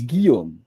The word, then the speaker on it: Guillaume: So it's Guillaume. So all that with just a Guillaume. hard G.